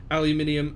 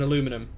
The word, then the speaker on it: aluminium: Aluminium and aluminum, both are correct.